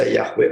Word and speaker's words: Yahweh: yang seringkali dibaca ya tapi lebih banyak yang membaca Yahweh pada zaman sekarang Sekalipun kita tidak tahu dengan pasti sebetulnya yhwh itu pembacanya Bagaimana ya gue itu hanya merupakan satu kemungkinan bukan suatu kepastian lalu mereka mempersembahkan korban